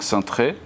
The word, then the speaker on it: Cintrée: Actually, how do you pronounce it? Maybe I'm getting it wrong. Cintrée. Cintrée. So we're going to start with the Cartier Cintrée.